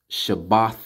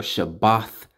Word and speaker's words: Shabbat: of atonement Sabbath year we Sabbath so it's pronounced Shabbat shalawam or shabbat shalom I have to put emphasis on this